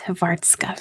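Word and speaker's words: Hrvatska: Croatian what how do you say Croatia it's havartska very good Dez of artska how about Albania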